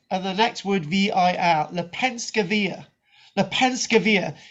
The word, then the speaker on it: Lepenski Vir: right um so the site is known as le penske via which is spelled l-e-p-e-n s-k-i of the next word v-i-l the penske via the penskeville it's along the danube danube river